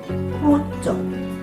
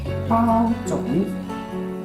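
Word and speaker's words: 包種: So don't say pu zhong. No pu zhong. Because if you say pu zhong, nobody will know what you want. Okay? So the original pronunciation is bao zhong.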